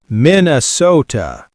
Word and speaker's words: Minnesota: Minnesota. Notice the long O.